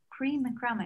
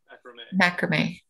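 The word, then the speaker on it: macramé: practical art exactly yeah like cream and crummy is that how you say it or you say macrame macrame yeah um yeah that's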